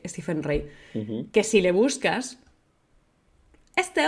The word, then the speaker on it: Stephen Rea: rea Rey stepen rea Rey se escribe rey rea pero creo que se se lee stepen rey que si le buscas